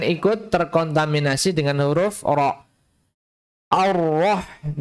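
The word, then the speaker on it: الرحمن: Jadi jangan dibaca sebagai 'o', 'arroh', ya. Jangan sampai terkontaminasi oleh 'ro', meskipun 'ro' ini memiliki ciri khas yang tebal, tetapi jangan sampai mencemari 'alif' di depannya, karena 'alif' itu tipis dan harus dibaca tipis. A, ya 'a', jangan dibaca sebagai 'o', 'arroh'. Tapi 'a', 'arrah', ' arrahmani'.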